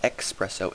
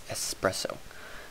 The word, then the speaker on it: espresso: It's not espresso, it's espresso. Is the proper pronunciation of that.